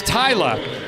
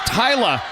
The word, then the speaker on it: Thalia: we receive it it's it's written t h a l i a and and has been every time I've gotten it so the eye is in the other spot and it's Tyla that makes a lot